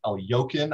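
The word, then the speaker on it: Alekhine: in budapest six years before winning the title elekin yeah alakin which is pronounced el yokin i guess i've never heard it pronounced correctly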